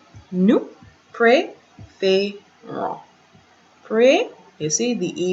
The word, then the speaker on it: préférons: The E with the accent in that direction, the E with the acute accent is pronounced as AY.